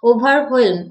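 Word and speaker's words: overwhelm: ওকে, WHELM, তো এটা actually pronounce এরকম হবে, হোয়েম, ওভারহোয়েলম।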